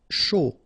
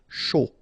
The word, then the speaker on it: chaud: Chaud. Final D not pronounced, and then when you combine this C and H, you get the sh sound. A and U, O. Chaud.